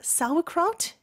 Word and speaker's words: sauerkraut: Yes, yes, and sauerkraut, is that how you pronounce it?